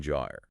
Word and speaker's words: gyre: It all started with a Central American Gyre, right? J-I-R-E, pronounced like tire, but with the J sound.